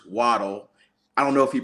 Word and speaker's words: Waddle: so it is true his original last name is pronounced Waddell but he prefers waddle I don't know if